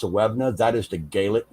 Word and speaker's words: Suibhne: The Suevna name which is actually spelled Suibhne. It's actually pronounced Sewevna.